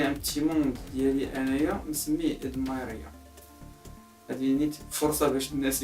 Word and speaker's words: Edmyria: هي كلشي كيقول لها ادميريا، ولكن هي سميتها نورمالمون كيف خاصها تنطق ادمايريا، حيتاش كنت كنلعب انايا في دي جو اون لين بحال ليغ اوف ليجند سي لو سويت.